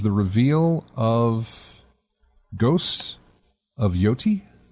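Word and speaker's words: Yōtei: And then finally, the big one was the reveal of Ghost of Yoti. Is that Yote? Yeah. Thank you. Much easier to pronounce than Tsushima. Yote?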